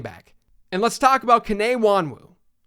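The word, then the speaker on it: Kene Nwangwu: and let's talk about K Wan Wu and for the record I believe that's the right pronunciation I did a lot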